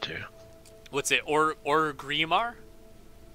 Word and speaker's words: Orgrimmar: Of course I can pronounce it correctly. He just chooses not to. What's it? Orgrimmar? It's Ogremar, man.